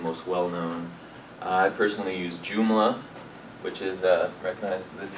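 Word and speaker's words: Joomla: know WordPress is some people have heard of jumla many people still have a custom home written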